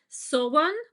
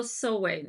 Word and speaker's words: Samhain: pronunciations, Sowan or Sowen.